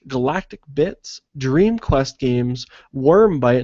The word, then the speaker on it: Wyrmbyte: Bits, Dream Quest Games, Wormbite, and that's spelled WYRMBYTE, Radio Games, Ludoland, Beta,